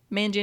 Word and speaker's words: Manganiello: But Joe Manganiello, am I saying that right? Manganiello. Yeah. I've Manganiello. heard it. I've heard it. I feel like I've heard it pronounced 2 or 3 different ways.